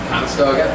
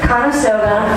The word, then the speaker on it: Conestoga: Conestoga. Conestoga, like the wagon.